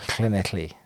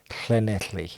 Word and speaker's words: Llanelli: Oh, Llanelli. That's how you pronounce it. Okay. Let's try and say it. No. Llanelli.